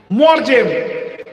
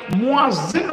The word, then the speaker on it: মুয়াজ্জিন: তো অনেক জায়গায় এই আরবি শব্দটাকে সঠিক উচ্চারণ করতে পারে না, দি বলে মুয়াজ্জিম, মুয়াজ্জিম বা মুয়াজ্জিম। তো তারা আরবি সম্বন্ধে অবগত নয় বলে এই ভুলভালগুলো হয়, এর কোনো মানে মতলব নাই। মুয়াজ্জিন হলো আসল কথা।